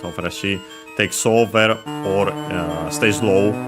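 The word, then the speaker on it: らしい: least we have this rashi which means uh seeming appearing uh accent on the uh she uh I'm pretty sure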